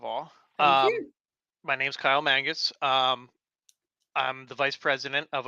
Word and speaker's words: Kyle Mangus: I do have a special guest, Kyle Mangus. I'm hoping I'm pronouncing that right.